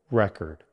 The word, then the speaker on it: record: Stress on the first syllable, record.